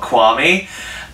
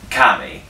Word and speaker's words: Qami: High firm and I originally thought it was called Kwame and learner's disappointed to realize the pronunciation was actually kami it's actually a belter